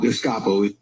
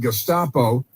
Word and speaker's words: Gestapo: Gustapo.